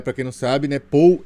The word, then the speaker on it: Paul: quem não sabe né Paul em inglês se escreve p a u l ou é mas você que é brasileiro vai ler de outro jeito colocou p a u na mesa né mas em inglês é Paul mas para a gente